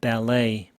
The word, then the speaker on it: ballet: ballet, lay의 강세가 있죠, 뒤쪽에. t는 발음이 없고 e의 강세가 있습니다. 발레트 이러면은 완전 꽝이고요. ballet. 프랑스어기 때문에 ballet 이런 거는 이제 별도로 발음을 억지로 외워주셔야 됩니다.